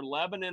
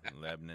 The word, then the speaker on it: Lebanon: Lebanon. Well, so in the Middle East, it's Lebanon, right? But in Tennessee, it's Lebanon. Lebanon?